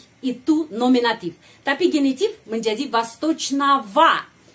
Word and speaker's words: восточного: Kita menulis восточного, tapi bacanya ava. Karena kita sudah tahu. Itu tradisi bahasa. Kita harus mengucapkan o seperti ava. Kenapa? Karena tradisi bahasa. Kalau kata sifat dalam genitif, diakhiri dengan ogo, kita mengucapkan ava.